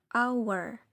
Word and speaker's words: hour: Hour nasruni ditulisnya ada hanya ya hower tapi dibacanya hanya jadi hilang our our artinya jam Oke sip sampai sini bisa